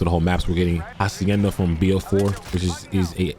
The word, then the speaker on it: Hacienda: But firstly, when it comes to Hacienda, I like to say the word Hacienda, because it's Hacienda. That's how that's how you gotta pronounce the map.